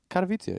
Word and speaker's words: Katowice: Katowice, yeah.